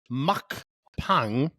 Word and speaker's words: mukbang: is an eing show a mukbang pronounced as Muk Pang also known as eating